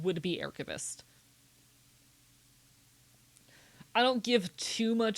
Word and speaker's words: aerchivist: Ah, what if we started saying ah instead of ae?